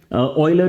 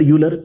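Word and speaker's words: Euler: ऑइलर यूलर जो भी आप यहां पे प्रोनाउंस करते हैं दोनों ही ठीक है।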